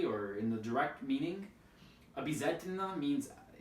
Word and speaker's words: обязательно: Another example is обязательно, обязательно, обязательно, right? Here the stress is on a, and at the beginning of the word, and at the end of the word, it's a, but we write o, right?